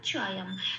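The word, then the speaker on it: चायं: শব্দের শেষে অনুস্বর থাকলে সেটা ময় হসন্ত দিয়ে প্রতিস্থাপিত হয়ে যায়। এই অনুস্বরটা ময় হসন্ত দিয়ে প্রতিস্থাপিত হয়ে অন্তঃস্থয়ের সাথে জুড়ে উচ্চারিত হবে অম। তাহলে শব্দটা পেলাম চয়ম।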